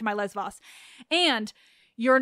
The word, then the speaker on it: Lesvos: didn't print didn't correct that you correct my Les Vos and you're not wrong but also you're a tiny bit wrong but I'm not I promise I'm not telling you you're wrong wrong so yes it's lesvos no question I know the island now is